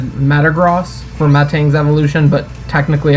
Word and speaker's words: Metagross: but i always said metagross for matang's evolution but technically i guess it should be metagross i read something about like it's because a gross has something to do with a unit of measurement and he's like he's